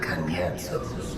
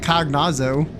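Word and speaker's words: Cagnazzo: In order to guarantee success, however, I will require Cagnetzos. Cagnetzos? That's how you pronounce it? I always call it Cognazo.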